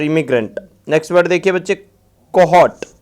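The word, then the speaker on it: cohort: Next word देखिए बच्चे, कोहॉट। आर O silent रहता है, कोहॉट।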